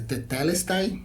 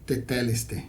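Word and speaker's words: τετέλεσται: Aliás, eu vou deixar dois, porque tem a pronúncia tetelestai e a pronúncia teteleste, que eu falei. Uma é grego clássico, outra é grego koiné.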